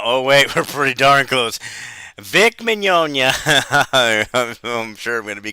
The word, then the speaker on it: Vic Mignogna: news about vic Mignogna I'm pretty sure I'm saying it right because I looked up a video with him talking and introduced himself he said vic Mignogna so I think I